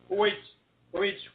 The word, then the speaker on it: which: And you're pronouncing that WH like it's HW, right? Not this time. Which foster.